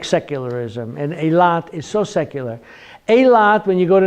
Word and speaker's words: Eilat: Eilat. Eilat.